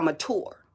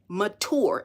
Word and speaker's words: mature: My words are for individuals that are mature, not mature. Mature. M A T U R E is how it's pronounced. There is no CH in it.